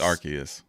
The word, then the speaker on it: Arceus: It's Arceus.